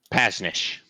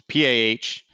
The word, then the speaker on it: Pasnish: And his name is Pasnish, which is Pahnish. Say that again. PH. I'll spell it. Yeah. No. Punish. There we go. Punish.